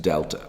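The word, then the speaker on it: Δ: letter delta it's this triangle here and it's pronounced delta okay so what we can do is shorten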